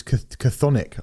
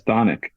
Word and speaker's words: Chthonic: I always thought it was Chthonic. I always thought they were called. I went off their pronunciation, which is Chthonic.